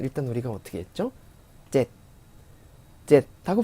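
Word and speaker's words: เจ็ด: 젯 하고 발음했죠.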